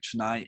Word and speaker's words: Chennai: your native in your home of chennai am i pronouncing that right chennai india yeah can you give us